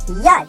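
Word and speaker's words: יד: In Hebrew, hand is Yad.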